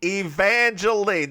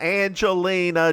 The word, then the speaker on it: Evangeline: Evangelene. The woman's name is Evangelene. It's too many syllables. Not Angelina.